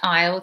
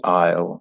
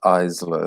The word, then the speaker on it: aisle: them you have the aisle, like the corridor between the shelves, the aisle. And yeah, it's not Isla, it's aisle, that's the pronunciation. Yeah, you sound it's like your eye.